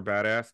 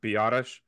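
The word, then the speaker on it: Biadasz: I really want to call him Tyler Badass just because it looks, it sounds cooler, but I guess I heard it's pronounced Biotish.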